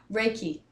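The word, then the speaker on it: Reiki: still do the I don't know how to pronounce it r i k how do you say it raiki raiki so raiki is something that I well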